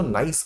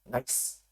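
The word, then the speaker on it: gneiss: वो नीज को कैसे, वैसे तो प्रोनाउंस इसको नाइस करते हैं, NICE, नाइस। ठीक है, तो नीज मैं बोलता हूं आपके अंडरस्टैंडिंग के लिए कि कहीं आपको नाइस समझ ही ना आए।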